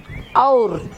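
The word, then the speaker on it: और: அப்போ எப்படி நம்ம உச்சரிக்கணும்? அவுர்.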